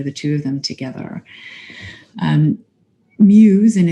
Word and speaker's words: Meux: Meux, and it's spelled M-E-U-X, but it's pronounced Muse, was the heir to